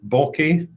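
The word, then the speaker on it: Bohlke: Devore Cutler F Street bulk or bulky John Halsey bulky age 73 that's spelled b-o-h-l-k-e of Hastings Nebraska memorials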